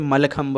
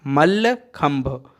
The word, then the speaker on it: मल्लखंब: और ये जो है प्रोनाउंसिएशन इसका बिगड़ते बिगड़ते मलखंब बचा है, मलखंब। ठीक है, इसका ओरिजिनल प्रोनाउंसिएशन है मल्लखंब।